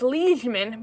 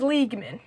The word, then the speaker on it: liegeman: I've now figured out it's liegeman, but I thought it was liegeman. And that's spelled L-I-E-G.